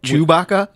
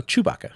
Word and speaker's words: Chewbacca: Did you and pronounce it starts it out Chewbacca? No, Chewbacca. Okay. So his first name's Chew. His last name's Baka.